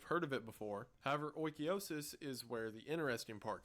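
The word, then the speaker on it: oikeiosis: and is not allowed oikiosis and according to the internet that is how it's pronounced I look tall enough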